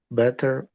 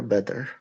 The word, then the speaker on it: better: You You pronounce it the same as butter.